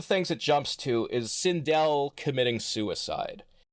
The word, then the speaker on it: Sindel: And one of the things it jumps to is Sindel committing suicide. Or as they call it there, Sindel. Oh, Jesus Christ, I forgot about that. Yeah, they pronounce her name Sindel, which, like, at this